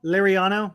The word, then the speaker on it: Liriano: um along with um Liriano uh am I saying it right is it was it lariano lariano yeah I learned the the